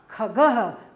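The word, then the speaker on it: खगः: ये ग के आगे बच्चों आप देख रहे हैं जो ये बिंदी लग रही है, इनको विसर्ग बोलते हैं, इनको इनकी जो आवाज हम उच्चारण करते समय ह साउंड करते हैं, हम इसको ह की आवाज निकलती है, ख ग के आगे लग गया है तो हम बोलेंगे ह खगह, क्या बोलेंगे, खगह।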